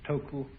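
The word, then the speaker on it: 德: of this word death the japanese pronounce it toku these cantonese duck and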